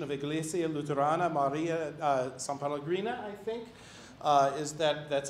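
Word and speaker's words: São Paulo: to the congregation of iglesia luthorana maria uh sao paulo i think is that that's how you pronounce it they did send people to receive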